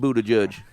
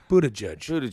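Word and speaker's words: Buttigieg: it's blue the judge Buddha judge no it's not right that is not how it was originally pronounced he just decided he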